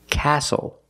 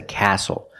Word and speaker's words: castle: We also see the silent T when you have a spelling pattern S-T-L-E. Like these words, whistle, castle, and hustle.